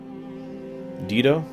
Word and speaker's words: Dido: And apparently it's pronounced Dido.